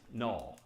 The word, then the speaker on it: NUL: But all this time over here, ASCII character 0 is null, NUL, which just means that's how you pronounce.